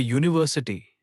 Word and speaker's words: university: But a university, not an because university starts with a U sound, which counts as a consonant.